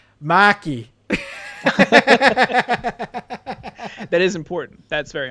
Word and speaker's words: Markey: Marky, pretty sure it's pronounced Maki.